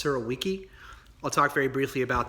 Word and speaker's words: Surowiecki: This week I'll be reviewing The Wisdom of Crowds by James, I believe the last name is pronounced Surowiecki.